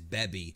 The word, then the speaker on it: Baby: of my old videos I actually refer to baby as beby because I went with the Japanese pronunciation but it's really the same thing CU baby and Bey are the same word so it's whatever you